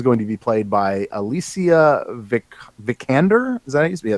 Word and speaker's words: Alicia Vikander: But apparently Lara Croft is going to be played by Alicia Vikander.